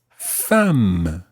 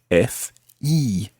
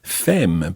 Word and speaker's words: femme: about your wife, you would talk about ma femme. Ma femme. Okay, so the word for wife is femme. Now be careful with that one, because if you see that written down, you'll notice that it's spelled F-E-M-M-E.